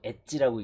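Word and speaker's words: エッチ: 섹스하는 것을 엣지라고 하는데 h라고 쓰고 엣지라고 읽습니다 엣지니 고인니 고잉 강인하게라는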